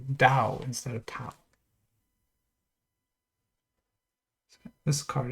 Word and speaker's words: Tao: Roman characters uh but it's pronounced with a d Dao not with a t they don't T is not really a sound in Chinese so we say Dao instead of top this